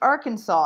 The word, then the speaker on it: Arkansas: And our teacher said, oh, yeah, it is, but actually it's written Arkansas, Colleen, but it's pronounced Arkansas.